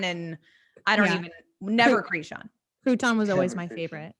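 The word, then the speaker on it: Kreshon: which is krishan but it's pronounced k or it's spelled k-r-e-s-h-o-n and so we get crouton and creshon and i don't even never krishan crouton was always my favorite yeah because it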